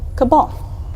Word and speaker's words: Cabal: I'm just kidding so people have come to blows over the question of pronunciation but most of the surveyors are settling on the pronunciation of Cabal now let's get to